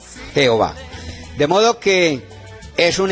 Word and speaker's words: Jehová: Entonces, esa combinación o esa mezcla o esa unión entre AE se pronuncia E. Por eso, por error, se pronunció y se empezó a pronunciar E, Y. La primera A se cambió por una E, Y o A. Por eso pasó al español como Jehová.